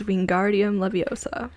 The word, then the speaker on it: Wingardium Leviosa: and charms too for 100 all right a spell that levitates objects what is wingardium Leviosa it's lovely sure that's how it's pronounced we